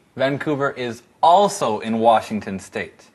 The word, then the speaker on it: Vancouver: Vancouver is also in Washington State.